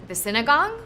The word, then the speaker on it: sinigang: gonna botch how to say this, but the sinigang? The sinigang Yeah, bowl. sinigang.